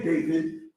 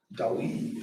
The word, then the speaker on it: Dawid: They'll pronounce it like this. The wa. Dawid. Dawid. Dawid. The weed. Understand what I'm saying? Because the I is not how it runs in English in their language.